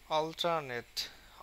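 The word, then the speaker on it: alternate: যেমন আমরা দেখি অল্টারনেট অল এর উপরে বেশি স্ট্রেস আর নেটের উপরে কিন্তু কম।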